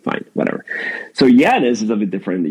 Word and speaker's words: Yanez: So Janice is a bit different. Janice is really if you spell it out is spelled wanes and it's a region in Venezuela where I'm from and I am from that region.